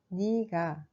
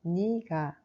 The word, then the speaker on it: 네가: Mais on prononce plutôt comme 니가. Alors on écrit 내가, mais quand on le prononce, ça devient 니가.